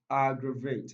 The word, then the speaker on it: aggravate: the second syllable aggravate aggravate it stress on the first level don't forget option a